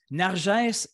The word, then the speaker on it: Nargès: Écoutez tout le monde, je vous présente Narges Benem Luca. Est-ce que je le prononce bien, ton nom? Tu es parfait, Daniel, Je le prononce loin. très bien. Narges est tunisienne et française.